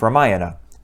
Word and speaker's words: Ramayana: The two Hindu epic poems are the Mahabharata and the Ramayana, sometimes pronounced Ramayana.